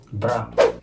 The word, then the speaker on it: bras: Bra. Yung bra. Braso. So, hindi nila pinopronounce yung S, no?